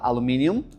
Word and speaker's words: aluminium: Você pode falar aluminium or aluminum.